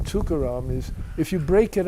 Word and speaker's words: Tukaram: And uh the thing about the name Tukaram is if you break it up, which nobody does, but it's three syllables.